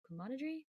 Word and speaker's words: camaraderie: Camaraderie?